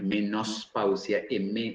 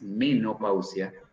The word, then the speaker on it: menopausia: se escribe con ese, no es menospausia, es menopausia el término.